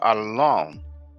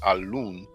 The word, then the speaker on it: al-Lawn: And the path for rosy complexion is Azhar al-Lawn. I know some people may pronounce it al-Loon.